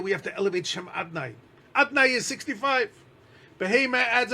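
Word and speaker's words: אדני: It's written Yud Kei Vav Kei. But we pronounce it Adnai, Adoi, and then Noi at the end.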